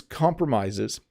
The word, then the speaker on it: compromise: say it incorrectly so when you make a promise it's pronounced promise but when you compromise its pronounced compromise it's kind of a